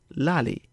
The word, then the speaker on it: lali: The contraction of li ale is lali.